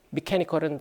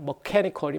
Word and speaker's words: mechanical: 오리진이 여러 가지 있을 수 있겠는데, 이 경우에는 미케니컬한, 여러분들이 일반 물리나 역학에서 배웠던 미케니컬은 잘못된 발음이긴 해요. 머케니컬이 맞는데 하도 미케니컬 이거 머케니컬인데 기계적인 외력이야.